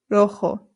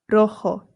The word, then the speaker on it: rojo: Rojo. Rojo. Remember that the J makes a H sound.